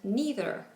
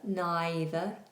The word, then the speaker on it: neither: In American English, they are pronounced either and neither. So either, neither, either, neither. It's a difference in vowel.